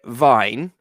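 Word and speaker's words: Wien: like that one rapid well it says they're vine but it's the german pronunciation but we call them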